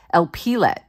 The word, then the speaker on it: Elpelet: Oh, this is Elpelet. I said it wrong. This one's Elpelet, this one's Eliphelet.